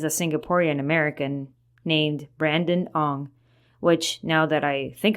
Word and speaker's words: Ong: Ong, spelled O-N-G, is basically the same as Wang, or Ng, spelled N-G, which is the Cantonese pronunciation.